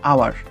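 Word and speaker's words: hour: তারপর দেখো হাওয়ার না, কিন্তু এটা হচ্ছে আওয়ার, আয়ের মতো উচ্চারণ হলো, অ্যান বসলো, কারণ ভাউল টোন, ভাউল উচ্চারণ, তাই ভাউলের মতো উচ্চারণ।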